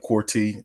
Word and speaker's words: Quartey: number two quy and I I did pronounce that right corre correct yeah you you were you were pretty close Corte Corte some somewhere somewhere in there uh okay